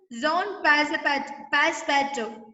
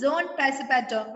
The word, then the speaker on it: Passepartout: Okay, pronounced Jean Passepartout. Pronounced Jean Passepartout.